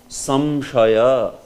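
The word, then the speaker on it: संशय: Like here if you pronounce, how do you pronounce this? Samshaya. Samshaya. This is how you pronounce. Samshaya. So, do you hear that there? Samshaya. Yeah. Samshaya. Samshaya. So that M, that basically is the anuswar sound there.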